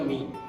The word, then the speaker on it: Mi: Oh itu sebenarnya dari, sebenarnya itu dibacanya Mi.